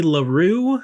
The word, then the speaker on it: Larrieu: So we continue with the second person on here, Wendy LaRue, I believe is how you pronounce it.